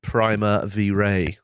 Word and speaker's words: Primavera: it's pronounced Primavera.